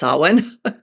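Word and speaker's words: Samhain: celebration around then was saan uh if people have seen the word s m ha a i n that's pronounced saan it's not spelled at all like it sounds but that's um that's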